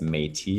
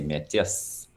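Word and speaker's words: Métis: indigenous person in canada they refer to us as metis in english and don't pronounce the s but in french you say metis so we're just finishing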